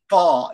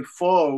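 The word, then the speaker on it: phở: How do you pronounce it in Vietnam? You say pho? Pho? Fall. Yeah, fall. See, Americans say faux. We say fall.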